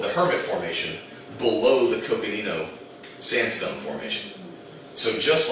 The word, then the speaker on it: Coconino: So below the Coconino, I always want to give it a S sound instead of a hard C. The Coconino sandstone and the Hermit